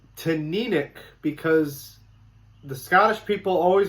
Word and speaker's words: Teaninich: It looks like you'd pronounce it Teaninich. Or Teaninich, depending on how you do that kind of stuff. But it's Teaninich because the Scottish people always want to have